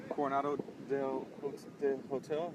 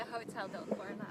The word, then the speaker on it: Hotel del Coronado: We're at the Coronado del Hotel. Is that how you say it? The Hotel del Coronado.